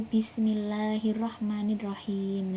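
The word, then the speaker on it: بسم الله الرحمن الرحيم: tua ketika anak mengucapkan Bismillahirrahmanirrahim itu Bismillahirrahmanirrahim, padahal itu adalah pengucapan yang salah. Jadi kita sebagai guru itu harus benar-benar tahu dan paham bahwa pengucapannya adalah dengan bukan B tapi bis. Jadi Bismillahirrahmanirrahim.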